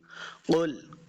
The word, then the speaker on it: قل: الرحیم۔ قل یحییہا الذی، قل قاف کو موٹا پڑھیں گے، قل آگے لام کے ساتھ اس کو ملانا ہے اور لام کے اوپر ہم نے جھٹکا نہیں دینا، اس کو قلقلہ نہیں کرنا، لام حروف قلقلہ سے